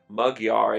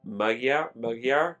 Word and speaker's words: Magyar: Peter, I'm going to pronounce this in a Hungarian pronunciation, but it's instead of Magyar, it's Magyar, Peter Magyar, Magyar.